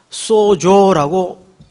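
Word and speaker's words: σῴζω: 하면 소 라고 씁니다 소조 내가 한 턱 소조 이런 말이 아니고 헬라 발음이 그래요 쏘 조라고 표시를 해요 그런데 그 앞에 디아라는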